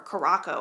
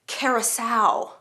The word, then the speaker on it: Caraco: of 18th century jacket, I read it as Curacao, like Curacao, the Caribbean island. But it is not that. It is Caraco.